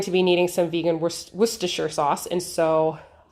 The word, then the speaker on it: Worcestershire: that and they said worcestershire is how you pronounce it um and so it's like it looks like it should be way longer but that's what it is worcestershire so there you